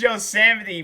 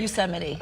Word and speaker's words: Yosemite: It's Yosemite, bro. Like, just, man. All right, forget. She sounded like she said it weird, too. How did she say it? Yosemite's Firefall. Yeah, Did I pronounce that right? Yosemite.